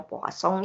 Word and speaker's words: Poisson: Bacanya Poisson ya Pak, pakai bahasa Prancis ini. Jadi bukan Poisson, tapi Poisson gitu ya.